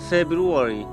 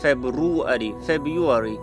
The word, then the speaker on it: February: And the last one is February, not February.